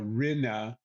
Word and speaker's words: Rinne: Uh last last name would be pronounced uh Rena kind of like that.